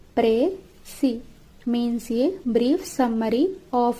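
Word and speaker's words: précis: ఏ ప్రెసివ్ pronounced presi means a brief summary of a given passage.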